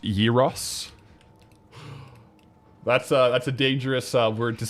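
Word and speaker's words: gyros: It's pronounced Yiros.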